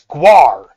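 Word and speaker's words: GWAR: I'm like, that's an A. Okay, it's not an O. Gu., okay, it's guar.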